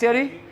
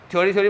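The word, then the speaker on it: theory: क्या पड़ गया, प्राइस थियरी, इनकम थियरी, ठीक है। थ्योरी मत बोला, थियरी होता है, ठीक है, थियरी, थ्योरी, प्रोनाउंसिएशन सुधारो बच्चों।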